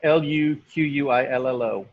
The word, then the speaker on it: Luquillo: Make sure you spell that right, Natalie. Loquillo, did I say that right? Yep. Loquillo. Yep. Luquillo.